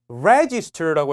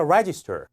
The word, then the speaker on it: register: in and reg 어 요거 액센트를 많이 헷갈리시는 분들이 있던데 Register고 해서 이절의 엑센트가 갑니다 해볼까 Register Register 기억하시기 바랍니다 아시겠죠